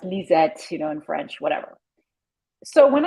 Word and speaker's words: Lissette: my name is spelled with an S, which is because it's French and they Yes. pronounce it like a Z, Lisette. Yes. Her name is Lizette.